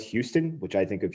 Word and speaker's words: Houston: a street in new york called it's spelled houston which i think of houston texas but it's pronounced houston and apparently you can really like